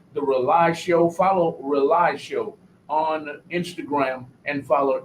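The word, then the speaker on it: RAULI: issues every week on this show it's called rely it's spelled r-a-u-l-i it stands for rebooting and uniting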